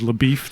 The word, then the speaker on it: LaBeouf: And the fact that he himself introduces himself as LaBeef, that is the pronunciation that is done, it just rubs me the wrong way.